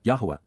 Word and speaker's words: Yahowah: And she ignored and forgot me, Wa-Eth-Eni Shakach, prophetically announces, Na'am, Yahuwah, Yahuwah, the proper pronunciation of YAHOWAH, our Eloah, God as directed in his Twrah, teaching regarding his YAH, existence and our Shalom WM, restoration.